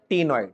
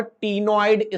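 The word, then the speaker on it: ctenoid: बोनी में लिखो साइक्लॉइड और टीनोइड scales are present. C silent है उसमें।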